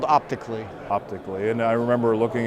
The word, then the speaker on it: OptiiQ: That's called OptiiQ. OptiiQ, and I remember looking at it in the booth. It's spelled OPTIIQLY.